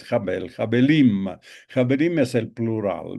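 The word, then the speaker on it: הבל: Ya eh les he mencionado alguna vez que el hebreo no tiene vocales, solo consonante. De manera que la vocalización depende un poco del contexto, de los lugares donde eh geográficos donde se pronuncia, pero la lectura que hacen los rabinos, por lo menos, es jabel.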